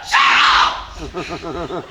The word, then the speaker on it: churl: You churl! Rhymes with pearl.